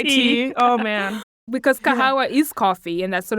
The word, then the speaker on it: Kahawa: of kahawa yes and people know how to pronounce it as well yes yes and not kahwa coffee yeah we don't want that just kahwa and you